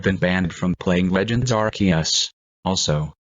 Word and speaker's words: Arceus: banned from playing Legends Arceus also can you stop pronouncing it with a soft C fine here goes looks